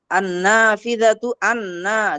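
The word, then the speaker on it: النافذة: আন-নাফিযাতু দেখেন এখানে আমি আন্না বলতেছি, কিন্তু আমি আলিফ লামের লামটা উচ্চারণে আমার আসতেছে না।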